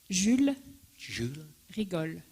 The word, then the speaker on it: Jules Rigol: อันนี้ก็เป็นผลงานของเพื่อนอาจารย์ฟานูนะครับก็คือเป็นศิลปินชาวฝรั่งเศส That could you pronounce her name again? Jules Rigol.